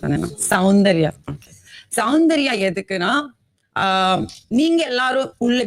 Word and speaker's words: சௌந்தர்யா: கரெக்டா ப்ரொனவுன்ஸ் பண்ணேன், சௌந்தர்யா.